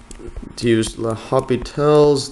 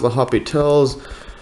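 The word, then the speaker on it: L'Hôpital: So need to use, L'Hopital's, I think it's pronounced L'Hopital's, sometimes spelled, I think it's spelled like L'Hospital for some reason, L'Hopital's rule.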